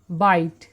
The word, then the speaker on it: bite: BITE, এর উচ্চারণ হয় বাইট, বি বর জন্য বি, আই আই এসছে, আইয়ের জন্য আই হলো, আর টির জন্য ট হয়েছে। এই যে ই, এর কিন্তু কোনো সাউন্ড এখানে গ্রহণ করা হয়নি।